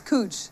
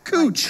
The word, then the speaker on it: Couch: last name wrong no you're saying the first name wrong and the last name it's cooch cooch coochie and the first no